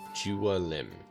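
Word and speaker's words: Jiwn: Juim.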